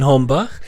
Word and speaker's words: Hombach: So, my name is Hombach, but in short, it's just Hombach, not, not if you are from the French kind of side.